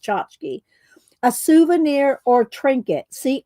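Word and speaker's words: tchotchke: Chachk, but it's pronounced chachki.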